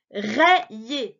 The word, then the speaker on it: rayé: Non, alors, souviens, c'est le Y qui est à cheval sur deux syllabes. Avec le A, il fait E. Avec le ER, il fait yé. Mais en tout cas, on n'entend pas aille.